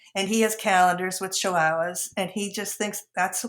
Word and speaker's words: chihuahua: sayala and his sisters his sisters cannot pronounce they say yeah you know he's a chiala he's a chilala he's he they get